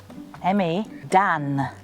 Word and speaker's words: Me dan: Me, M-E, Dan, D-A-N.